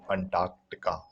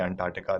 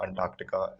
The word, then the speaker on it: Antarctica: antarctica all right and remember there's a c there so you'll pronounce it antarctica it's not antarctica don't say antartica that sounds wrong antarctica is actually the correct